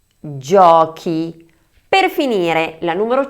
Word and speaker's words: giochi: Y la número 4: GIOCHI (juegos). Por última, la número 5 se pronuncia GENTE (gente).